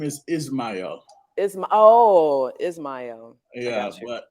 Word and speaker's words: Ismael: I want to say Ishmael, but how do you say your name? Because I I, always kill people's names. my name is Ismael.